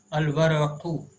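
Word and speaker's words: الورق: Al-waraqu, waw is from huruful qamariya. Lam is not omitted while pronouncing.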